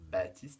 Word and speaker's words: Baptiste: Et vous avez vu, dans le prénom Baptiste, la syllabe ba, elle s'écrit B-A-P avec un P muet qui ne fait pas de son.